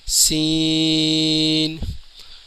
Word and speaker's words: س: کو سین کہتے ہیں، اس کا صحیح تلفظ ہے، اس کے اینڈ میں نون کی آواز نکلے گی، سین۔ شین، شین کے اوپر